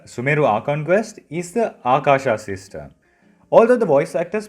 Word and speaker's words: Akasha: the Akashic Records library, here it should sound like Akasha. You have to drag the R sound, then it gives the meaning sky. To pronounce it again, Akasha.